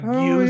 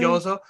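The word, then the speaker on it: gyoza: You know, I didn't say gyuzo, yeah, I that's said great. gyozo.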